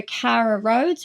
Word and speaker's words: Karra Rhodes: it listen to it it's under Cara roads which is spelled k a r r a roads r h o d e s so a little bit different to the two ways you can usually spell that so well that's good